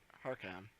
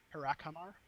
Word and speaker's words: Harakhamar: know, you speak about Harkam, Harkamar. So as you're trying Uh. to slowly pronounce it, he tries to start saying it with you, and he gives you the correct pronunciation, which is Harakhamar.